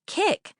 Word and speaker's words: Keek: BB, Mom, it's Kick, like kick.